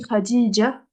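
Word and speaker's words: خديجة: quand on appelle une fille qui s'appelle Khadija, par exemple, on dit Khadija, alors qu'en vrai, ça s'écrit Khadijatun.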